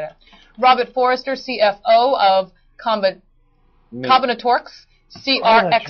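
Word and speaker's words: CombinatoRx: How'd he say it? Combinatrix or something like that. Combinatorix.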